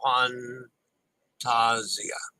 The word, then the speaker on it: Fantasia: Katie by the way MSC Fantasia is pronounced fun Tazia Fantasia okay I definitely screwed